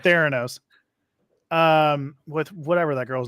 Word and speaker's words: Theranos: Theranos.